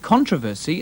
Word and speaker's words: controversy: the second syllable and conversely that controversy and kilometer are accented on the first syllable these words have no